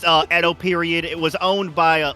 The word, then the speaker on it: Edo: have for bringing an actual, what is that, Odo period? Sword to? I It's don't pronounced actually know his Edo character. period, actually, sir. He does actually, and pushes the glasses up. It's Edo period.